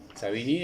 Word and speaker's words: Savigny: Savigny, a pesar de que tiene una pronunciación aparentemente francesa, es alemán.